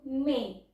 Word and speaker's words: mais: nggak pakai akson tema misalnya ada huruf Mais kita bacanya itu Mei tapi kalau ada akson temanya kita bacanya maize artinya sendiri itu beda